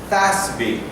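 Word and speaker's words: FASB: it's called plan fincial Accounting Standards Board it's pronounced as in English fby and fby is the institution all accountants get together they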